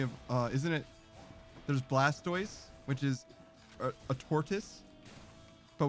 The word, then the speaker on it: Blastoise: uh isn't it there's Blastoise which is a tortoise but we say Blastoise and not blastus because blast just sounds stupid we all agree that